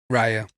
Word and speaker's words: Raya: Raya.